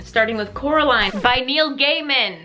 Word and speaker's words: Gaiman: In August, we're beginning Halloween, starting with Coraline by Neil Gaiman. I've been saying it wrong my whole life. Neil Gaiman. Gaiman. Not Gaiman. Gaiman. Right? Right?